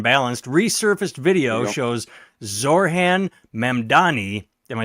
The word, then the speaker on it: Mamdani: Fair and balanced resurfaced video shows Zorhan Mandani. Am I saying it right? Mdani.